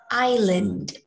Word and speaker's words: island: This one is island, which is the S sound here is silent. I think it's silent. No, I silent. The S sound is silent in island.